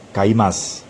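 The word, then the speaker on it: 買います: ingat untuk kata kerja meskipun akhirnya u-kiss akan kaimasu tetapi membacanya kaymaz atau menghilangkan udah punya atau punya dibaca sedikit lebih tipis sehingga nyaris tidak terdengar Hai hal-hal yang perlu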